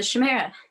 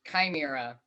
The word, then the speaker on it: chimera: it's it's the the chamera wait that's right you got it right actually it's pronounced chimera whatever all right are